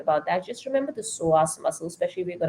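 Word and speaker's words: psoas: that just remember the soas muscle especially if you're going to go out and Google it it's called PS o a s so soas muscle the p is silent now this muscle um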